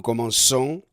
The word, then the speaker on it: commençons: Se reemplaza la C por una cedilla. Entonces ahora podemos pronunciar je commence, tu commences, il commence, nous commençons, vous commencez, il commence.